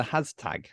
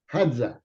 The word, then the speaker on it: Hadza: The Haztag. Hadza.